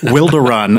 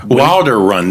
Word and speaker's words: Wilderun: Wilderun, is it? That's right. That's how we like to say it. Yeah. Wilderun.